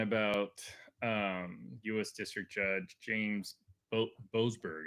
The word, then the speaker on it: Boasberg: District Judge James Boasberg, I believe is how you say his name. But Boasberg, yeah, that's it. Looks how it is.